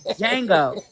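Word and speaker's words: Django: First of all, the D is silent.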